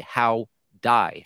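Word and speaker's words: Hwdie: your name is howdy it's spelled h w d i e how die how to die I go so you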